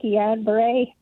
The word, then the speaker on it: Guillain-Barré: I had Guillain-Barré. That's how you pronounce it.